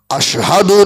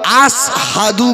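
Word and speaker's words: أشهد: ও হযরতে বেলাল কালো মানুষ, তোতলা মানুষ, মদিনার মসজিদে আযান দেন, আশহাদু আল্লা ইলাহা ইল্লাল্লাহ আশহাদু না বলে শিনের উচ্চারণটা বেলাল আসহাদু বলে, সিনের মতো বলে।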